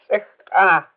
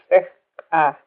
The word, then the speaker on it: Sikka: The third one, which is a kind of hard one to pronounce, sick. Sikka. Sikka. Can you hear that? The two explosive sounds in that?